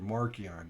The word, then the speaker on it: Markion: It's you're not a Marcy. You're Markion. Okay.